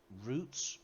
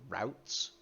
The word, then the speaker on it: Routes: Um, Off the top of my head, you need the add-on Roots or Routes, depending on what part of the world you will pronounce that, which creates, well, routes in any given zone for the gathered materials.